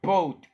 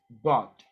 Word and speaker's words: bought: Just careful with the pronunciation of boat. It's not boat, guys. It's bought. I bought. I bought this one because if you say boat, is like the Titanic.